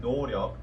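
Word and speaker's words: 노력: a lack of effort the word doryok is pronounced noryok by bts and this is a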